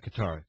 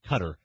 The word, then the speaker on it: Qatar: How do you properly pronounce that country's name? The question that Scott and I raised earlier is this Qatar mess, not Qatar, Qatar, 2022? I say Qatar.